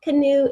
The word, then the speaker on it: canoe: Canoe is, the oo sound at the end is very unusual, spelled O-E.